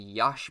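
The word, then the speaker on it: Yache Berry: So we have the Yachi Berry on there, or the Yash Berry, as it's now being called a lot. Apparently that's correct pronunciation. I'm going to stick with Yachi, because that's what I'm used to.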